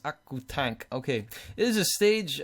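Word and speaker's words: オクタン: In Japanese, it's pronounced Akutank.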